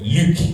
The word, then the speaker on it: Luc: You can't really see his face, but Luc. That's how you say it in French.